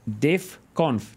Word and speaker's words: DevConf: Robert McLean, this organizer of DevConf. Did I say, is that the right pronunciation? 100% correct. DevConf.